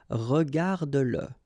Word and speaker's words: regarde-le: like in that case, then you will have to pronounce it. Okay, so regarde-le, regarde-le. All right, regarde-le. Écoute-le. Okay, écoute-le. So here you pronounce it.